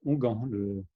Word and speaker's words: onguent: C'est onguent, Ah oui, la ok. façon de Ok.